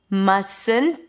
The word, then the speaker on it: mustn't: Must not mustn't. I dropped the T of the must. Mustn't.